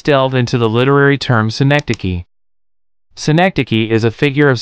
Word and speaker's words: synecdoche: S-I. Nick. Duh. Key. Fantastic. You're mastering the pronunciation of synecdoche.